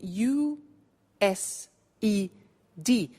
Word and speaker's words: used: now this verb used two well it's written u s e d but the pronunciation is used and we'll see that on